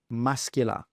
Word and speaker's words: muscular: But in the related word we pronounce the c muscular.